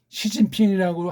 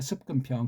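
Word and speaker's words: 習近平: 그게 시진핑이라고 하면 안 되고 북한처럼 습근평이라고 해야 돼요. 습근평.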